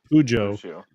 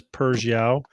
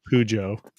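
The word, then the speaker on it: Peugeot: Bojo oh poio yeah pujo croak says pujo hop says Persia and I know Hop's wrong so so I'm gonna go with pujo I say I did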